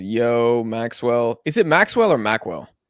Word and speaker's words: Maqwell: either one I mean my actual name is Maxwell okay I'll say Maxwell then that's what I've always said but people like yeah mwell I'm like is that how you say it okay